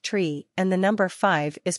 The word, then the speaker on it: tree: Cessna 8509-0 the number three is pronounced tree and the number five